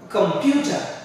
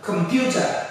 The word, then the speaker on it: computer: words the next one how do you pronounce this this is a computer computer you hear it come out come computer it's the pure that we need to express we spend more time pronouncing it computer director director he's the